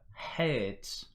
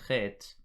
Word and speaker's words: Het: Then you've got the Het, or the Het, as it is pronounced in some subdialects of the Eastern dialect.